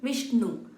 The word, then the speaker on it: Vishnu: Vishnu. Again, the na has to touch, the tongue has to touch at the upper portion of your mouth while pronouncing the na.